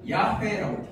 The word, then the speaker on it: 야훼: 이렇게 해서 이거를 원래 이제 그 이스라엘 사람들은 어떻게 발음하냐면 야훼라고 발음을 해요. 야훼라고 발음을 하는데 이거를 우리 한글 성경에는 여호와라고 지금 번역을 해놨어요.